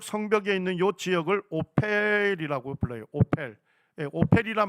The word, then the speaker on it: 오펠: 있는요 지역을 오이라고 불러요 오펠 오이란 말 자체가 언덕이란 뜻입니다 성경에 오이라고 나오죠 오벨 예 거기가 영어 발음을 하면 오펠이 됩니다 오펠 예 요기요 지역에서